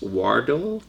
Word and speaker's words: Wardle: what about and your last name is pronounced wardo so I reached out